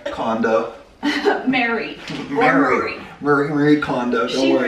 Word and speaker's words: Marie Kondo: Don't worry, Maria. Kondo. Mary. Marie Kondo. Don't she worry. Pronounces it Mary, I think.